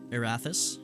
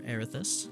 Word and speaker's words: Erathis: some fun stuff behind that is erathus or arithus depending on how you want to pronounce it and Bane and on